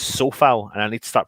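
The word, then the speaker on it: Coufal: 4-4-2 creswell dawson d-ops souffal sorry i should say it's so foul and i need to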